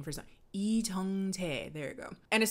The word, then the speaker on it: Lee Jung-jae: Lee Jung-jae. There you go. And as soon as I saw him, I was like, oh yeah, this is gonna be up, because I've never seen Lee Jung-jae in something that wasn't at least a little